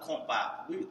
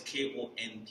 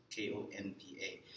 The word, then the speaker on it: konpa: But compa, the actual Creole is Konpa. Even though people spell it with M, some people spell it with a C. But it's Konpa.